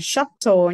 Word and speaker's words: shuttle: Đọc là shuttle nha, âm A nha.